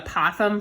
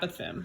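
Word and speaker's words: apothem: a Pithom is and I called it a possum for years and then found out that a Pithom is apparently the more mathematically correct pronunciation but no judgment anyway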